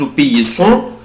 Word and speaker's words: obéissons: nous بنطق سنة زد. nous obéissons، vous obéissez، ils obéissent، elles obéissent.